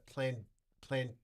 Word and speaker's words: Plantagenets: I'm not I'm not making it up and I didn't Can you spell that for us? these Yes, p l a n t a g e n e t s Plantagenets.